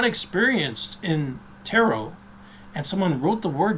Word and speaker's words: tarot: a problem he says turret and not taro and most people that have studied taro know that the t is silent perhaps there's other pronunciations